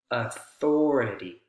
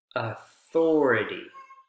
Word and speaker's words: authority: in so for example authority authority authority is four syllables and the or or second syllable is the strongest right before the it y that belongs in this